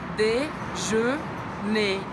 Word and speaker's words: déjeuner: D, simples. D, je, também com biquinho francês, lembra? Boca do O fala E. Déjeuner. Não pronuncia o R no final.